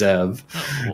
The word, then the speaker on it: Zev: Instead of Zeev, it's Zev, and then it's Buyam.